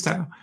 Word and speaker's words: Tau: It was Tau. It was Tau. It's Tau.